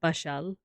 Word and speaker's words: Pasyal: I think it's spelled like Pasyal, but it is pronounced like that. Pashal.